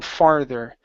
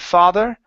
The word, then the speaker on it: farther: only other one is the r sound right here on farther okay instead of father okay it's far farther uh one more time R